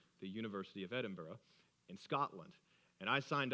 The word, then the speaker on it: Edinburgh: of Texas at the University of Edinburgh that's how they say it in Scotland the University of Edinburgh in Scotland and I